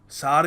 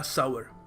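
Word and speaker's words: sour: या फिर देखो सही तरीका है इसको कहने का सावर। The candy was sweet and सावर। सोर नहीं थी। सावर थी।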